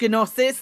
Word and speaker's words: Gnosis: I think you'll find it's pronounced gnosis.